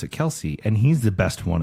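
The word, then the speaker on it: Kelce: Jason Kelsey says that he is going to pronounce it Kelsey and he's the best one of the group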